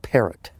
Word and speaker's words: Parrott: How do you say that? Perot? They called it Parrott.